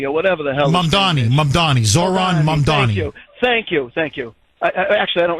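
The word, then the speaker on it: Zohran Mamdani: This guy, Zohan Marani, or whatever the hell. Mamdani, Zoran Mamdani.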